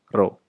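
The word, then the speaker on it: rho: menggunakan m lagi tapi namanya ini dibacanya adalah roh ya Hai nah massajenis perbandingan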